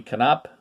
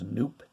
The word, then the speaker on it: Knopp: Bobby Knopp. Yes, as a kid we thought it was Noop till we saw it and heard it pronounced.